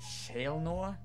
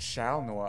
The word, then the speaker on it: Shalnor: Spirits named our world is that how you say it Shale Noah I've been saying it shall Noir all this time Shale Noah meant